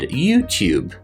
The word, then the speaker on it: YouTube: or new or youtube a british english speaker will keep the yes sound in there saying things like tube and new and youtube so i'm working on a new youtube video a new youtube video